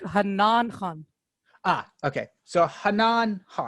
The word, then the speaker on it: Hannan: today and i want to make sure i'm pronouncing this right hanan khan correct it's more like hanan ah okay so correct yeah awesome uh this